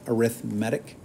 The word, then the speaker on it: arithmetic: kind is called arithmetic it's spelled like arithmetic but you say it arithmetic that's an arithmetic sequence